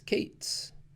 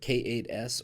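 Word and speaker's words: K8s: you can pronounce as kate's of course many people do also spell it out completely and say k 8s but k 8s or kate's are equally valid i tend to stick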